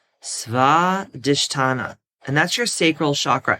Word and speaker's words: Swadhisthana: Okay, and the way that you pronounce it is Swadhisthana, Swadhisthana, Swadhisthana.